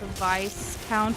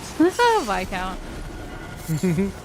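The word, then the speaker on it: Viscount: surprised to find out it's not pronounced Vice count VI count like I I I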